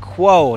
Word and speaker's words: Qua: wrong this whole time it is the kamika boom xu quo not quoi you're going to hear me say that later in the video i am very sorry kamika boom xu quo anyway we're going to